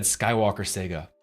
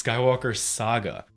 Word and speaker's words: Skywalker Saga: actually is pronounced Saga I've been saying it like the old console the old game system Sega it's Skywalker Saga and I'm going to